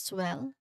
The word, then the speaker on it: swelling: Well, the first syllable here, which is swell, that is our stressed syllable. This is the syllable which is pronounced clearly, like the word itself, with a short S sound is in bed. Swelling, swell, swell, bed. So there's a short S sound in here.